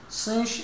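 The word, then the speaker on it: sinh: ونرمز لها بالرموز: ساين هايبربوليك وحننطقها سينش اكس، كوساين هايبربوليك وننطقها كوش اكس، تانجنت هايبربوليك وننطقها ايش؟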